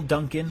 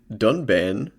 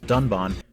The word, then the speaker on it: Dunban: Or the stoic and inscrutable Duncan. Correct pronunciation is Dunban.